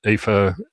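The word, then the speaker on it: Aoife: Um Eva, uh for those of you don't speak Gaelic, is spelled A E I O F E. So, don't use or something. Yeah, don't don't use phonetics.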